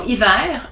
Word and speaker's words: hiver: You don't pronounce the H if it's in the beginning of a word. So as an example, hiver, heure, histoire, hasard, haricot, honte.